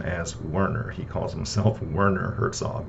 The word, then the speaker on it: Werner Herzog: He pronounces it Werner. He, says his own name several times during the narration of that book, and he always pronounces his first name as Werner.